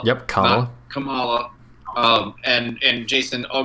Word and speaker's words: Kamala: going to be kamala harris her name is pronounced kamala yep kamala um and and jason i'll go ahead and